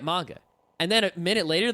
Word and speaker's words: manga: Like someone will say manga and I'll say no, manga. And they'll say, "Oh, right, manga."